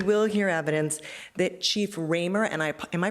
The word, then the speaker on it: Ramer: expect that we will hear evidence that Chief Ramer and I am I pronouncing that right I am thank you Chief Ramer of the Toronto Police Service um that he's